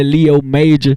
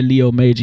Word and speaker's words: Leo MJR: It's your boy Leo Major. It's just spelled MJR. That's just how we, you feel me? That's just how we brand it, but it's pronounced Major, so it's your boy Leo Major.